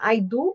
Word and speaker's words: Haydu: Ele é sobrenome de origem húngara. E eu repronciei certo ou a gente deixa livre? Porque na verdade me parece que eu a pronúncia correta seria hoido.